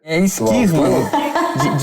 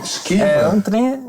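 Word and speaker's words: Schuurman: A pronúncia? Skirman. Skirman. É por aí.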